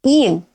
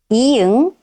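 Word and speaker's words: 이응: Next is i-eung. Its name is i-eung, i-eung. Write one smooth circle, i-eung. At the beginning of a syllable, it is silent.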